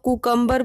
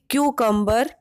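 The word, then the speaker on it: cucumber: Screen पर दिखाई दे रहे वर्ड को बहुत से लोग कुकम्बर बोलते हैं, जो कि गलत प्रोनंसिएशन है। इसकी करेक्ट प्रोनंसिएशन होगी क्यूकम्बर।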